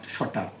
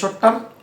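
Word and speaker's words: shorter: শর্টার লিখবেন, শর্টার টিটাকে ডর মতো উচ্চারণ করবেন, শর্টার।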